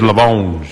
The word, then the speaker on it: Lamonge: It is Lamonge. Yes, indeed. It's that French pronunciation, Mr.